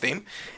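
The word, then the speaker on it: Dâm: We just found out that it's pronounced Dame.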